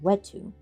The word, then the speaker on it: wetu: I say that right I think it's a wet H in my language you'd say we to but this is not my language let's look wetu all right let's say it with the correct pronunciation wetu he watched them enter